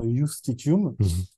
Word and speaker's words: justitium: Ça s'écrit avec un J, justitium, mais ça se prononce certainement justitium.